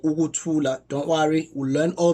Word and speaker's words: ukuthula: So a word like ukuthula, don't worry, we'll learn all this in class tomorrow. So ukuthula, there's you, and then a, ukuthula.